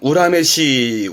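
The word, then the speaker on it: 恨めしい: 발음 또한 우라메시, 우라메시 해서 뭔가 원망스럽다, 원망스럽다 표현이 되겠습니다.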